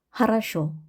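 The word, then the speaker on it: хорошо: 하라쇼. 두 번째 규칙, 강세 앞에 예, 야는 이로 발음을 한다.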